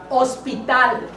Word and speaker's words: hospital: Hospital. Hospital. Don't pronounce the H.